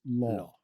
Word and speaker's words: Lo: the Venoms like law whenever you see L it's not low it's law like almost pronounced like L aw law and then so his in his name in canones would be law White Law and in Mandarin because